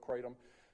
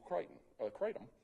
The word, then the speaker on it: kratom: Now, there's different types, different veins, when we say veins or strains, quote-unquote, of kratom.